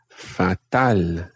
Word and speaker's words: fatal: just aren't going very well, you could say fatal. Fatal. Fatal. Fatal. So, if I ask ¿qué tal? Fatal. Fatal. Fatal. It looks, when it's written, it looks like fatal.